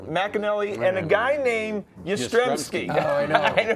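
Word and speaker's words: Jastremski: This equipment manager Mcanelli and a guy named Ystreky. Oh, I know. But the J is not pronounced, right?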